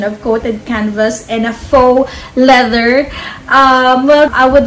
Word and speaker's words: faux: um bag review that the pronunciation for um like f-a-u-x is not literally fox leather it's actually faux leather and yeah i did